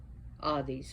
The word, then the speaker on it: Hades: Hades actually would be pronounced Hades.